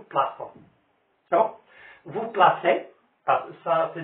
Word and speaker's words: plaçons: Nous plaquons. لأن السي devant on se prononce co. هذا هو الاستثناء. هنايا ضروري je dois ajouter la cédille pour prononcer nous plaçons.